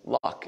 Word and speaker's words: Luck: You know, two weeks from now, we'll have opportunity to receive Holly Luck is her last name is how you pronounce it, the one that's been